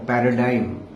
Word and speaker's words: paradigm: इसको अंग्रेजी में कहते हैं पैराडिम और पैराडाइम, ये शब्द है जिसकी स्पेलिंग है PARADIGM और जिसका G ड्रॉप्ड है।